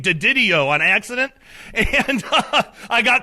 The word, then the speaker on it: DiDio: So it's DiDio. You got to put a little marinara sauce on it. DiDio.